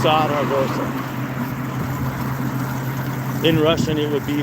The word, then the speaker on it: Zaragoza: Something with a Z you pronounce with a slightly harder S than a normal S. So it's Zaragoza.